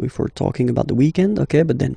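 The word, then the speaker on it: week-end: we're talking about the weekend okay but then pronounce it the French way weekend the weekend okay but then in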